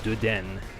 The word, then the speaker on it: Dedenne: But if it's N-N-E like that, you pronounce it like a long N, so you go Dedenne.